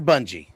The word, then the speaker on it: Bungie: Was it bungy or bungee? Bungie. It is bungee.